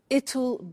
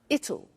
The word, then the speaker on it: it'll: difficult I said tomorrow it'll be cold you notice how it will becomes it'll it'll strange pronunciation yeah so